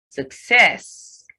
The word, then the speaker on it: success: Success, success. The first C is given the K sound, and the second C given the K sound.